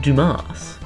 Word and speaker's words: Dumas: It's pronounced Dumas. He's French.